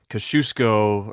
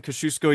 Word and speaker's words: Kosciuszko: have the walk up Kosciuszko, I think is how it's pronounced in Australia, and then he would have the seven summits.